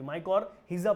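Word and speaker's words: mycorrhiza: का नाम है माइजा इसे माइकर हेसिया बोलते हैं मैं अलग तरीके से बोलता हूं क्योंकि स्पेलिंग गलत नहीं होती माइकर हीजा बोलते हैं वैसे लोग बोलते हैं माइको रिजा होना चाहिए माइकर हिजा चलिए देखिए कैसे मैं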